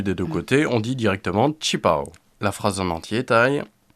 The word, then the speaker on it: 旗袍: mais maintenant on att tendance utiliser directement sa prononciation chinois c'est qu'onutilise plus fondu des de ctés dit directement chipo la phrase en entier taille et je veux